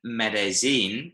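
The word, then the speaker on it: Medellín: yeah, a double L is pronounced like a Y noise, like a Y, yeah. So you'll notice that in Medellin, they kind of make a bit of a J kind of noise as well.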